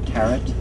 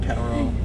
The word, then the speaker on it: tarot: know Egyptian it's not taret no tarot you don't know Egyptian the tea isway you're done yeah where you going I'm back there's so much more to say ter rhymes with parrot do water